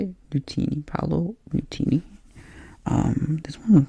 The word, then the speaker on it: Nutini: Nutini.